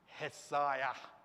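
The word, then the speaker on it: Ἠσαΐας: Hesaiah. Yeah? All right? Isaiah. Isaiah. The prophet, Isaiah. All right? This is how you pronounce it.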